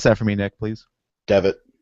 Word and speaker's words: Devitt: yet and then now prince devin or david pronounce that for me nick please devitt devin okay thank you i will get that one